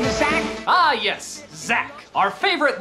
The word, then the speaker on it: Zach: Here it's spelled Zach, but in this commercial you definitely hear a J.